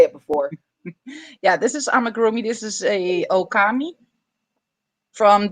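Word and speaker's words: amigurumi: could never say it before yeah this is AMA groomy this is a Okami from the fantastic beasts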